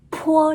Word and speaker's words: 坡: 一下看，这是一张纸，波的时候，这个纸是不晃动的，而坡的时候是要晃动的，所以坡这个音呢，它的气流是比较急的，明白了吗？